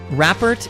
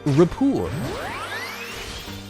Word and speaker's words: rapport: it is pronounced rapport i would imagine it's it's probably a french word it's probably a french word but it is pronounced repor um disney also says